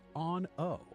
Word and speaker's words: Aun'O: When you speak to the Ethereal, please use the honorific Aun'O, A U N {apostrophe} O, but pronounced Aun'O on top of the name Artemis.